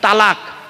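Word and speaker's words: طلاق: যারা স্ত্রীকে ডিভোর্স দিয়েছে, ইসলামিক পরিভাষায় মুসলিমরা একটা শব্দ বলে স্ত্রীকে, কি, তালাক, তাই না? আরে বলুন না। হ্যাঁ, শব্দটা তালাক নয়, শব্দটা তালাক নয়, শুনে নিন, শব্দটা হলো তলাক। তোয়েল আমারিব কপ, ওর বাংলা উচ্চারণ হলো তয়বাই লয়াকার ক।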